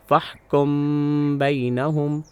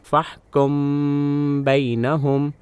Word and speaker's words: فَاحْكُم بَيْنَهُمْ: ہوں تو یہ اسے فَاحْكُم بَيْنَهُمْ پڑھا جائے گا۔ ایسے میں نے اپنی ناک کے ذریعے ایک ہلکی ناک کی آواز نکالی جو حرف با کے تلفظ کے لیے تیار تھی اور اسے 2 گنتی